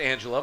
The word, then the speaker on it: Angelia: Pronounced Angela, my apologies.